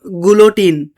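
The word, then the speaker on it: guillotine: अब हम बात करते हैं अपने नेक्स्ट टर्म की जो कि है यहां पर अ गैलीलियो माफ़ कीजिएगा गलोटिन। ठीक है? यहां पर आई साइलेंट है।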